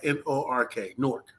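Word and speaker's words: Newark: Now is how people from say it but you spell it n e w a r k. I say it like n o r k.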